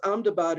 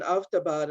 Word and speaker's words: Ahmedabad: Ahmedabad, obviously also Muslim, but it's normally pronounced Ahmedabad or even Avdabad, and so it's not quite so obviously Muslim, but they want to change it to Karnavati.